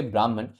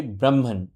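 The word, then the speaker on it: ब्रह्मन्: और the universal soul I would not से ब्राह्मण the correct pronunciation would be ब्राह्मण ब्राह्मण ब्राह्मण है वो है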